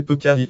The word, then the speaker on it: Peccais: Le fort de Peuquet, prononcé Peucari en provençal, est une construction militaire du XVIIe siècle, édifiée à proximité des salins des Aigues-Mortes, gare aujourd'hui en ruine.